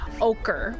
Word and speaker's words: ochre: It is ochre or okra. I don't really know how it's said. It's said like this. Ochre.